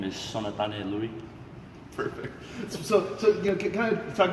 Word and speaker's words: Sonatane Lui: Pronounce it one more time for everybody out there. Yeah, my full name is Sonatane Lui.